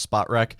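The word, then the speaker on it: Spotrac: at it right now according to spot rack i think it's pronounced spot wreck the minnesota vikings are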